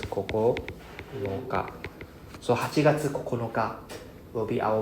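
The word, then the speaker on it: 九日: Then 9 is Kokonoka. Right? This is pronounced as Kokonoka.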